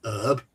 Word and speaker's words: herb: I've written it as herbalist because in America they don't pronounce the H in herb.